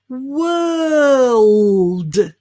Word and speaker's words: world: have is world again there's no o sound in this so instead think of the word were you know the past tense there were and then we'll just add a l world well your turn perfect